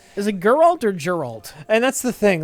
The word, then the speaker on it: Geralt: correct is it Gerald or Galt it's Geralt Geralt and what am I